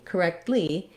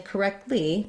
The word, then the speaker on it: correctly: answer okay and then looking at correctly correctly what we have there is we add the lee syllable so that's another unstressed syllable and if i'm saying correctly correctly correctly i again drop that t sound and make it more of a stop so i do make